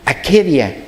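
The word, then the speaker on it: ἀκηδία: Y bueno, en el griego realmente se pronunciaría akedia, ¿verdad?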